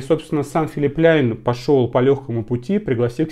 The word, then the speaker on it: Philipp Plein: допросов было в комментариях Как тебе филипляйн либо playing Как хотите так говорить но по-моему правильно произносить Филипп пляйн Да но я могу ошибаться если что в комментариях